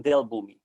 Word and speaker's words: Dell Boomi: you spell that out d e l l like del laptop species and then boom b o o m i all right okay yeah